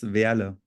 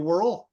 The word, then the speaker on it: Wehrle: Yeah, in German it's Wehrle, but Yeah, I think yeah, that's only in German. only in German, and then Yeah. the rest of the world they just call you Wehrle.